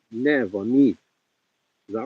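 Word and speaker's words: Niamh: is pronounced Nev on me.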